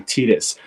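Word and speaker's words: Tidus: Abe's tattoo that um I think I was saying it wrong it's not Titus it's actually Titus yep and it's the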